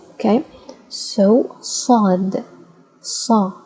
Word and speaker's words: صاد: So, Saad, Sa, ص, صاد, الص, الص, الص.